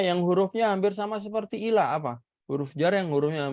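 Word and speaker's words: إلى: Cara bacanya ilah dan cara penulisannya seperti ini. Ada ya yang seperti ini ya, ada ya yang tidak dibaca.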